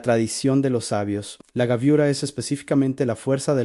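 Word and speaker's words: גבורה: Ang gaviura se pronuncia exactamente así, angue burra.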